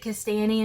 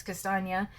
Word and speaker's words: Kastanie: to us i always i pronounced it kistani until somebody corrected me it's castagna so the different lines